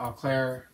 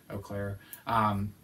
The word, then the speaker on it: Eau Claire: And we got to Eau Claire, I think that's how you say it, Eau Claire, Wisconsin, and we spent the night there and got up this morning.